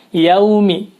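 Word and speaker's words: يوم: pada ayat ini adalah tidak jelas dalam membaca bunyi lafaz yaumi kata yaumi perhatikan disini ada Hai Fatah ini ya diikuti Wow sukun dibaca aw karena ini rupiah maka dibaca iaw Jadi au ada uu-nya ya Wow suara wow nya bukan Yao nah banyak atau kadang-kadang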